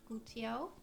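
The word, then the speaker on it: guttiau: How do you pronounce that? How's it written? Gutiao.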